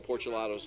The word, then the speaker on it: Porcelato: broadcasters and PA announcers, if you're confused about Mateo Porcelato's name, just think Porch Gelato. Yeah. Porch Gelato. It'll come out right. Porcelato. So it's a hard C, I guess is what you would say phonetically there.